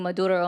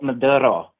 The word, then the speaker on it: Maduro: Okay, so why do you do this liberal Maduro? Why do you roll your R's on that?